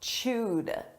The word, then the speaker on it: chewed: Now, let's talk about chewed. Notice this is an ed verb, a past simple verb, but the pronunciation is a soft d.